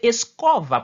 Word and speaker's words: escova: C'est prononciation français que nous gagnons, mais c'est escova parce que o a lui-même après qui consonne qui vient son v il gagne le sens de o. Li prononcer tant que o escova.